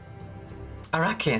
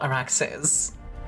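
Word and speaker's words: Arrakis: Arachis. Sorry, not Araxis. That's my bad. Sorry, I was pronouncing it wrong.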